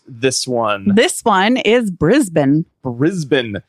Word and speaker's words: Brisbane: you're going to need Erin how do you pronounce this one this one is Brisbane Brisbane spelled b r i s b n e you may have called it Brisbane no it's Brisbane again as long as you're typing it